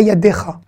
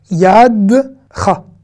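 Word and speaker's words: יָדְךָ: Et pas Yadecha. Yadcha. Là, c'est un E muet qui reste E muet dans la prononciation et tout. Donc, c'est Yadcha. Et là, vous avez vu notre Cha qu'on avait vu ici.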